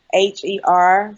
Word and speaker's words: Expozher: Okay, so my blog's name is Expozher, and that's spelled Expozher. So it's a play on the word exposure, but I spelled it kind of expose her, and that's at .me, as in ME.